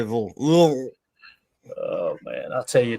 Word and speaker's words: Louisville: It's one syllable. You say Lou and you just say Louisville.